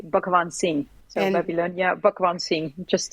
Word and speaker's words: Bhugwansing: I mean, the the Dutch people say basically Banzing. So the way it's written, but it's an Indian name, but the real pronunciation is actually Bakan Singh.